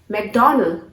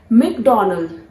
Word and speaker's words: McDonald's: Yes, McDonald's. Guys, that is a wrong pronunciation. You don't have to pronounce this word as McDonald. इसे pronounce किया जाता है McDonald. McDonald, not Mac. Mick.